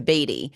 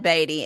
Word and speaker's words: Beaty: And guys, first part of this segment, I said I didn't know if I was pronouncing the name correctly. Well, I have been until the first part of the podcast when I went to Beatty. It is Todd Beaty and Ethan Mcdonald, your